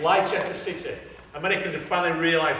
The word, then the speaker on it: Leicester: around United who was it United United and leester correct leester City Americans have finally realized how to pronounce Leicester now um what's the coach was